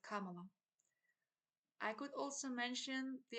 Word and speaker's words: Kamala: I could mention the fact that he has mispronounced Kamala Harris's name quite often, calling her Kamala instead of Kamala.